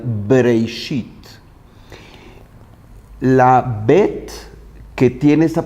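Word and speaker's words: בראשית: Y la pronunciación de Breishit es justo la pronunciación labial, Breishit.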